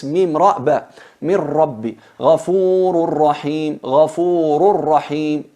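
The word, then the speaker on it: غَفُورٌ رَحِيمٌ: En realidad es ghafurun rahim, pero por la dificultad de pronunciar la nun y la cercanía al punto de articulación de la ra y nun, se fusionan completamente.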